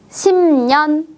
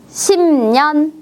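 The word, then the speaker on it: 십 년: 한번 읽어 볼까요 10년 10년 10년 10이라고 쉬지 않고 심 이렇게 비음의 발음으로 발음하는 거 주의해 주세요 다음 단어입니다 비가 오는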